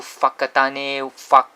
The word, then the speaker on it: Whakatane: a Maori language, and when you see the WH in front, it's pronounced as F. So Wagaruru, Whakatane, Whangare here, so it's a F.